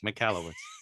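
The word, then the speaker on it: Michalowicz: I can never remember how to pronounce it. McCallowitz. Yeah, okay. You're right. McCallowitz.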